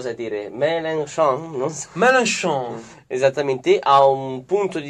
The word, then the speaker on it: Mélenchon: Pronuncialo te se lo sai dire. Mélenchon, non so. Mélenchon.